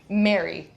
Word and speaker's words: Mari: And so Mari okay. rhymes with sorry.